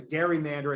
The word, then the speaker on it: gerrymander: was called the uh the i guess it would have been the gary mander at that time because it was named for the massachusetts governor at the time elbridge gary how it became a soft g as opposed to a hard g over the course of